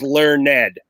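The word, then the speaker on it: learnèd: to Shakespearean times where we pronounce the e D as a second syllable now it's learned but back then for the rudiment and a scheme of his demeanor for his poetry it was learned ed there you go I'm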